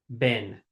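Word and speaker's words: બહેન: brother and sister, bhai, ben. Bhai is your brother, ben is your sister. Easy peasy. Bhai, ben. Bhai, Bhai, ben. Ben is spelled bahen. It's like Bahen, bahen, but it's pronounced ben.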